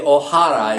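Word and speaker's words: Ohara: because her name was O'Hara. Well, it's really O'Hara in Japanese, but it's spelled like O'Hara.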